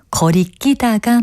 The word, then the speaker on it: 거리끼다: 표현입니다 어떤 것일까요이 경우에는 거리 끼다가 맞습니다 꺼익기단은 거리끼다를 된 소리로 잘못 발음해서 나온 표현이기도 하고요 거리끼다를 뜻하는 일부